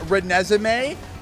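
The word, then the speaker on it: Renesmee: Yeah, Reneesme.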